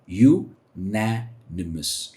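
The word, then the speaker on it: unanimous: इसकी प्रोनाउंसिएशन है यूनैनिमस।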